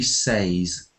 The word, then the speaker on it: says: B say says yeah usually we for the third person he or she we say says like he says not he says but we I say